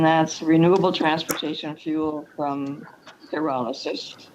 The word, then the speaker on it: pyrolysis: Our next item is a discussion item, and that's renewable transportation fuel from pyrolysis. Am I saying it correctly? Is it pyrolysis? That's correct, very good.